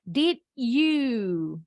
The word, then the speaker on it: did you: Satu kata yang di depan diakhiri dengan huruf D. Kata berikutnya diawali dengan huruf Y. Nah, ini bacanya jadi J, huruf J.